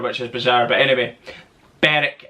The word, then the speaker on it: Berwick: But anyway, Berwick, it's pronounced.